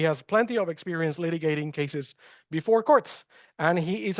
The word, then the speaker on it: Cees: in pronouncing my name so uh it's it's case like in case law so it's very easy